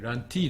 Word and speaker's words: Lante: はい、ランティーですね、発音では。